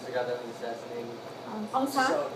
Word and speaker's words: Aung San: Aung San? Son. How you spell it?